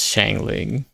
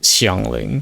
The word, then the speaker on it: Xiangling: I'm always beware when some people pronounce certain character names really weirdly like people calling Shiang Lling as Shangling. Yeah, that's that's dangling.